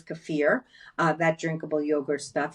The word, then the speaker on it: kefir: do I do cafir a lot of you pronounce that kefir but it is cafir uh that drinkable yogurt